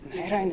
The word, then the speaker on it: Narayanan: Narayanan. Yeah. Yeah, just ask Marjorie Taylor Greene how to pronounce.